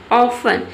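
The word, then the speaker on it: often: इसमें देखिए ऑफन में आपने देखा होगा कि टी है, टी को प्रोनाउंसिएशन हम पढ़ते हैं ट, लेकिन इसमें ट का कहीं भी प्रोनाउंसिएशन नहीं है, ऑफन इसे पढ़ते हैं, यानी कि इसमें टी लेटर क्या रहता है? साइलेंट रहता है।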